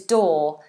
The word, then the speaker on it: doe: say quite a lot so we have do dong door which you walk through do